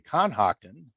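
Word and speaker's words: Cohocton: the confluence of the conhoctan yes you'll see it's spelled cohoctin but it's supposed to be conhocton uh and the tioga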